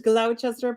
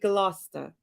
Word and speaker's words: Gloucester: you pronounced Peabody where Chester is Gloucester you'd see it as Gloucester but Gloucester and by the way